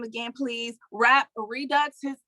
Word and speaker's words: Redux: the name again please rap redux his it's like rap and then it's spelled r-e-d-u-x and he has a